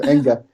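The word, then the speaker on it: Enge: So yeah, and it's Eric Enga, by the way. I know it's a Norwegian name. It's not Sorry. immediately. No, that's okay. Nobody knows how to pronounce it. So Enga. With short E's, but Eric, he built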